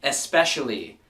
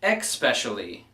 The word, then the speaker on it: especially: starting with number one especially not expecially I don't know where people got an X from in this word but it's es P not EX XP which leads me to